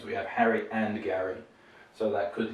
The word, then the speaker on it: Harry: So we'd have Harry Potter and you'd have Gary Potter, which sounds quite unusual in English, because in English we also have this name with the G, Gary.